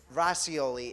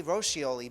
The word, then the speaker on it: Roscioli: Roscioli is how she pronounces it, but I say Roscioli because that's the restaurant in Italy that I love.